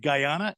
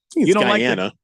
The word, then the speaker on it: Guyana: that Keon you come from a tropical aisle Guyana and you you uh Guana how do you pronounce it Keon Guana yeah it's Guyana it's